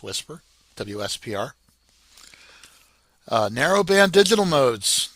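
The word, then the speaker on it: WSPR: It's pronounced whisper wpr.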